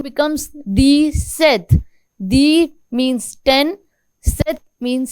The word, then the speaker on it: sept: Sept. In this P is there but it is silent, so it is called sept.